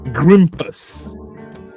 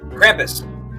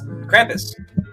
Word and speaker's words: Krampus: You're using a hard G and I'm using a hard K.